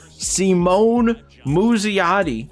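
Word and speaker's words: Simon Muzziotti: We have a fast track player lock to play with, I looked up how to pronounce it, Simone Muzziotti.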